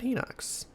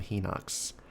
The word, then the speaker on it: Hinox: I keep calling them Henox, but Hinox probably makes just as much sense. Might sound a little better, too. and kind of sort of vaguely rhymes with Cyclops.